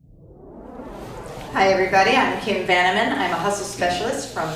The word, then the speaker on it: Vanaman: Vanaman is only tricky until you hear how it's spelled. V as in Victor, A-N as in Nancy, A-M as in Mark, A-N as in Nancy. Van-a-man.